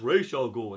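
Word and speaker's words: Ra's al Ghul: channel when I say Raz al Ghoul and everybody's like, "It's pronounced Ral Ghoul." And then when I say it that way, some people like, "It's Roz blah blah blah."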